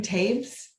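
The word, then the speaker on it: Toews: um miriam miriam miriam tapes her name is t-o-e-w-s but it's pronounced tape so you might recognize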